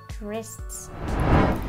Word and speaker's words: wrists: Que ya el plural es un poco más complicado, ¿no? Por la doble S. De nuevo, wrists.